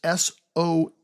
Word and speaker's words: Soule: It's by Charles Soule, or Soule. I'm not sure how you pronounce his last name. It's Soule.